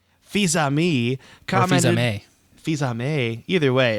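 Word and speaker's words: Fils-Aimé: Yeah, so in 2010, Nintendo of America president Reggie, help on pronunciation, Tyler? Fils-Ami. Fils-Ami commented...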